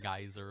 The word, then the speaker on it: geyser: God, all I can think of now, whenever I hear geyser is just the Xenoblade cast saying geezer, because that's how it's pronounced over in the UK accent, and I'll be honest,